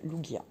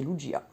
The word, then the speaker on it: Lugia: Ou il y en a qui l'appellent Lugia. Mais normalement, non, c'est Lugia. Dans la prononciation française.